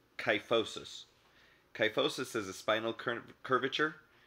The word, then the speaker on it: kyphosis: from drinking bad water there's also cuff which starts with the letter K like kyphosis kyphosis is a spinal